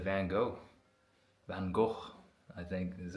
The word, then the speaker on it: Van Gogh: Van Go, I think is how you actually pronounce it.